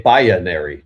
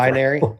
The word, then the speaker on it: binary: You also say bionary too, which I don't know where the hell that came from. Binary.